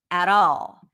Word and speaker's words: at all: not working at all notice how he says the all you barely hear the L that's a dark L you don't hear it as a regular L it it sounds it's pronounced in the back of the mouth all at all at all and it's like a D sound and not a t at all at all